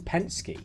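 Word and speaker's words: Penske: through and he found a logo for team pensy I think that's how you pronounce it I just Googled it that is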